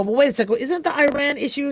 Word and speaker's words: Iran: a second isn't the Iran issue Iran issue is supposed to be over by now and and yeah it's pronounced Iran I apologize if I ever say Iran uh it is pronounced Iran um so will will